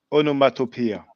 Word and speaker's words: onomatopoeia: Well, I'm not sure how you pronounce it exactly. Oh, there's just the sound. Onomatopoeia.